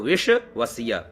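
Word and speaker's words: विश्वस्य: द तो with धद विश्ववस्य तो यहां वी आधा श व आधा स और तो विषव वस्य अहो रात्राणी विद धद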